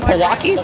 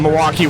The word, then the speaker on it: Milwaukee: So well and also so eventually they're in you want to try and pronounce this my friend Palaki. I believe they're in Pawaki Wisconsin. Yes Milwaukee.